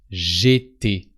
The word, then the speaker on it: j'étais: So you drop the E of je and you replace it by an apostrophe. And it sounds j'étais.